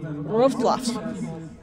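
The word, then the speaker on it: Wrocław: okay so now I understand that it is pronounced roadblock say that again road block roads wha-what broad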